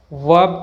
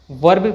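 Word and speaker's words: verb: sound नहीं आती है इसे हम वर्ब कहेंगे इसे वर्ग बोलना गलत है इसका सही प्रनंसीएशन वर्ब है ना की वर्ग मार्च नॉट मार्च परफेक्ट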